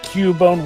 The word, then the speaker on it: Cubone: Given how Nintendo definitely have not corrected the actual pronunciation of Cubone, which has very much been a thing in